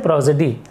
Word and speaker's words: prosody: 2 vowel के बीच में जब एस आता है तो इसका प्रोनाउंसिएशन जो होता है वो सा नहीं बल्कि ज हो जाता है।